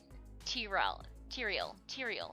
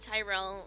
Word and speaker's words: Tyrael: moths to be like Tyrael. So I said it right. Tyrael, like the A Song of Ice and Fire. I don't know. Not Tyrell, like the gentleman who played trumpet back in when I was in grade school.